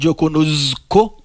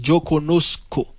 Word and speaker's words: conozco: Pingano dit yo conozco. Pas prononcer Z dans tant que Z en français, mais sinon c'est un couillon S. C'est yo conozco.